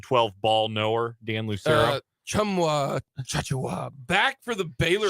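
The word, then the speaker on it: Tchamwa Tchatchoua: Chumwa Chachua back for the Baylor Chamwa Chatua. So it's not that. At least that's how the guy was pronouncing it on the call on ESPNU last night. He was wrong.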